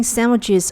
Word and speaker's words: sandwiches: 2 ice cream sandwiches on the waffle. 这个句子语调上扬，表示它是一个问句。你要不要吃华夫饼加2个冰淇淋三文治？三文治这个单词中的 D 是不发音的，注意。Waffle 华夫饼。如果你没有吃过一些食物，不知道它们是什么样的，你可以在网上搜索一下它们的图片。这个华夫饼我在美国的一家酒店吃早餐的时候吃过。